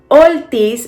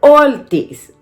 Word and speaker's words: Ortiz: what i said wrong i was saying ortiz instead of ortiz i don't think i